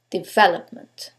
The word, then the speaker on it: development: Is it the second one, development? The third one, development? Or the last syllable, development? In this case, it's the second syllable, development.